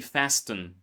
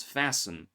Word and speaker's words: fasten: Many people say castle or words like fasten, right? Don't say fasten, it's fasten.